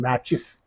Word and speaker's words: matches: So here ma, this T is silent.